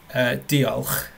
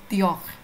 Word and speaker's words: Diolch: Well, diolch, did I butcher it correctly?